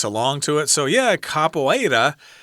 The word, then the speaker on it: capoeira: And this word I guess is from Portuguese and it's pronounced capoeira. Capoeira.